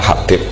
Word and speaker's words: Habib: Itu di harokatnya kitab itu ada yang nulis Hubab, yang benar yang benar itu bacanya Habib.